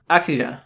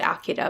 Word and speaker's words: Akira: This week, we are talking about the 1988 movie Akira. They pronounce it Akira, but I think we pronounce it Akira.